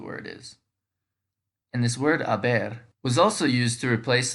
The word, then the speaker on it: haber: conjugates as us so because the h is silent the future form of